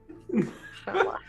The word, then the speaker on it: challah: Challah. Challah. That's how it's pronounced.